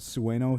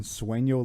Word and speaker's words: sueño: Also super nitpicky, but I'm annoyed that he pronounces it sueno here, and then sueño later, which is, if it's supposed to be Spanish sounding, or Spanish in origin, sueño is dream, but sueno is something that I don't know.